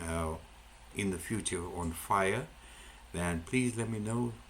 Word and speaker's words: FHIR: is called FHIR and you pronounce it as fire.